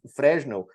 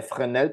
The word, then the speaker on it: Fresnel: sobre os coeficientes de frenel tá os coeficientes de frenel ou de fresnel como o pessoal costuma falar ah é frenel porque ele era francês né então a pronúncia do nome dele é assim eles são coeficientes que